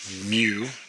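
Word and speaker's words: μ: And that M right here is pronounced mu.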